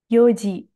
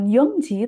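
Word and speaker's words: 四時: Yoji, bukan Yongji, tapi Yoji.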